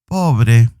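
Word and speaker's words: pobre: that means poor povere can you pronounce that word po now join it together both syllables let's see an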